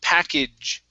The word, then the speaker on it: package: a difficult one okay because we have a sound at the end so it's like a j okay so it's package now instead of saying an a sound we're going to use a short i okay like the word it so package package good